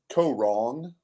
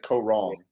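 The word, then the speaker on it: Kaôh Rōng: Co wrong. Like you're close. There's just like a G on it, like co wrong.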